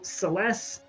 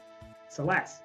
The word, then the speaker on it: Celes: how to pronounce it celeste i says franklin i usually say it as celes personally so it's more of a z than an s-s sound at the end of it yes this